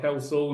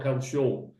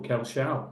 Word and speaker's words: Kelsall: You are Kelsall, not Kelshaw. Thank you very much, or Kelshall, however you would like to pronounce it.